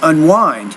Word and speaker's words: unwind: Okay, I think it's a stress thing. You can unwind. You can unwind. I guess unwind. You can unwind, right? So I think the stress there should be on that second syllable of that word, not the first one. So that's a word stress issue.